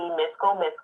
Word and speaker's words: Misco: And then my personal page would be Misco, and Misco is spelled MISCO, so like disco, but with the M.